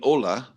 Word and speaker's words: hola: and don't forget uh when you're writing hola you've got to put the silent h at the beginning like help yeah or